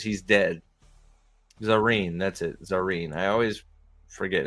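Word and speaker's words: Zarine: Zareen. I always forget how to pronounce her name.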